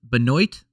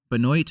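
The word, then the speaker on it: Benoît: negative way just that you can't say it unless you pronounce it the French way right because say this Benoit Benoit St Dennis not even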